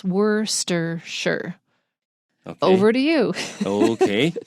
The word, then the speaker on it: Worcestershire: And then we have all these ingredients, and I just want to say Worcestershire gets squished up into 3 syllables. Worcestershire.